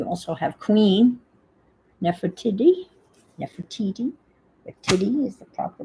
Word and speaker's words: Nefertiti: Nefertiti is the proper pronunciation.